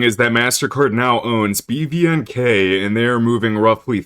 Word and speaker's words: BVNK: I think some people pronounce this group as bank because the V is kind of a play on the words, but I'm just going to say BVNK.